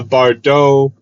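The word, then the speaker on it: Bardot: Don't pronounce the T. I'm decently sure it's French. The Baux neckline.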